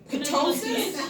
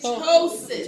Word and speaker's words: ptosis: And if I hear ptosis, I'm going to fail you. The P is silent. The P is The silent. P is silent. Yeah, so It's it's ptosis.